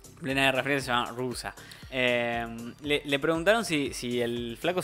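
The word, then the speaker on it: Roosa: Rusa, perdón. Sí, se escribe Rosa, pero sí, con doble O. Rusa, sí, se llama Rusa.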